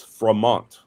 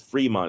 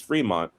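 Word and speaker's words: Frémont: Based on the spelling of his name, I thought it was Fremont. And any especially with the acute angle above the uh e, it should be pronounced as an a.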